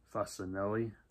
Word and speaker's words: Facinelli: 2017, starring Sean Ferris, Milo Gibson, Jason Patrick, Jamie Lynn Sigler, and Peter Facinelli.